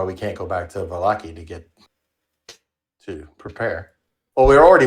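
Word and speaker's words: Vallaki: Valakai, or we pronounce it Valaki.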